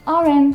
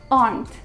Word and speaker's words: aren't: Nothing wrong with this sentence, but what was wrong was my pronunciation. They aren't hungry. It's wrong. It should be they aren't. They aren't. There's only one syllable in it.